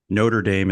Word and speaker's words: Notre Dame: political philosophy at the University of Notre Dame Notre Dame is how we call it but I don't believe you're a French French pronunciation yeah um I've taught uh at three